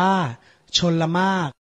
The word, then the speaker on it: ชลมารค: และ คำ ที่ 8 ชลมารค อ่าน ว่า ชน ละ มาก เป็น เด็ก ไทย ต้อง